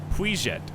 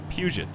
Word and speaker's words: Puget: You've got the Sound, which I don't remember how to pronounce. It's like Puiget or something like that, right?